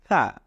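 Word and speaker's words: ح: তিন নাম্বারে উচ্চারণ করুন হা জিওভার আগাটাকে আপনি আপনার দাঁতের আগার সাথে লাগিয়ে এরপরে উচ্চারণ করুন হা খুব নরম ভাবে আস্তে করে হা এই হলো আলিফ শিখলাম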